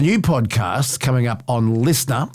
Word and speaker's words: LiSTNR: He has a new podcast coming up on Listener, L I S T NR.